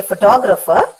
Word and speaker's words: photographer: But when I say photographer, the stress falls on the second last element, the second last syllable, which is to.